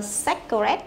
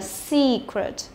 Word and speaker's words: secret: Từ này không đọc là secret, nhớ chưa? Cũng không đọc là secret. mà phải là secret. Secret. Đấy, see. Miệng phải căng một chút nhá.